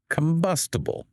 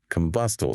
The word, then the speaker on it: combustible: Pronunciation time. Combustible. Combustible. See how the second syllable is stronger? Say it with me. Combustible.